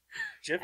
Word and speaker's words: GIF: this is Jif, and He I'm said like, it was Nobody GIF.